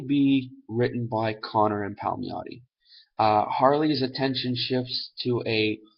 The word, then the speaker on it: Palmiotti: off the good uh amanda connor and jimmy palmiotti that's how you say his name how me